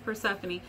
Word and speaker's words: Persephone: me for that name because it's like has four syllables and most dog names have one or two, and you know, and that's it. But I was like, no, it's Persephone.